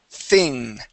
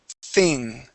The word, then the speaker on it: thing: okay think okay so when we pronounce the th okay we stick our tongue between our teeth thing thing try that okay try